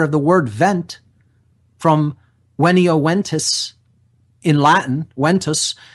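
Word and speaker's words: venio: from the Latin verb there's really not a V sound in classical Latin it's pronounced with a w so it's ven io is the verb and it's pronounced when EO when e o when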